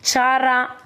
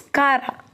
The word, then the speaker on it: Chara: They give rise to branch and they are filamentous, like Chara, or you can pronounce Kara. Both the pronunciation is correct.